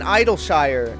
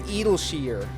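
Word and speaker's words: Idyllshire: a leg yep oh an idol shire is not pronounced idol shire apparently it's edelsheer edelsheer when they said that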